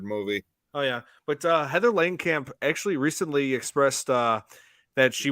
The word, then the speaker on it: Langenkamp: Heather Langenkamp.